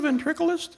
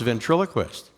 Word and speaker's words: ventriloquist: for you real good are you a real ventriculus I am but it's pronounced ventriloquist that's what I said ventriculus no say ven